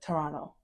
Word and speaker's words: Toronto: The people here call it Toronto. The T is silent, it's non-existent.